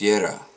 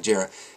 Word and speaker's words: Jera: food dark room uh today is jera or jarrah i mean you know i'm north american we pronounce our js uh but uh yeah jarrah now this is the